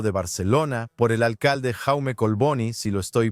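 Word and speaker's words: Jaume Collboni: El acuerdo fue firmado en el Ayuntamiento de la capital catalana, hablando de Barcelona por el alcalde Jaume Colboni, si lo estoy pronunciando correctamente, y su homólogo, el alcalde de Ramala, Isa Casis.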